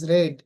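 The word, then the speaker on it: read: News is রেড।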